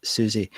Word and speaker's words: Siouxsie: that's really not good this is Susie how does her name get spelled with this by the way s i o u XS i e must be some sophisticated